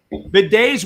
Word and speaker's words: bidet: And it's pronounced bidet.